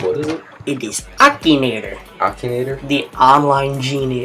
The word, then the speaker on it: Akinator: we're going I don't even know how to pronounce this what what is it it is Akinator Akinator the line Genie it's supposed to like